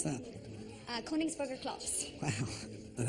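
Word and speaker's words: Königsberger Klopse: How do you pronounce that? Koningsburger Klops.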